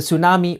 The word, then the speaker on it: tsunami: You've probably noticed that the T at the beginning is silent.